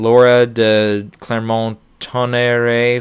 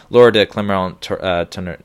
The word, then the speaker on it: Laura de Clermont-Tonnerre: You've got Kent Jones for Diane, Laura de Clermont-Tonnerre for The Mustang, Joe Talbot for Last Black